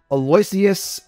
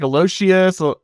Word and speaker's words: Aloysius: the fundamentals from I'm gonna say it uh Aloysius zeroth dude you got it spot on oh yeah I'm a winner all right some people will pronounce it like elocious and it's like no you got it spot